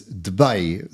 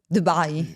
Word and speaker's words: Dubai: In a previous session, we learned that proper pronunciation is Dubai. So let's try and say that properly. Dubai.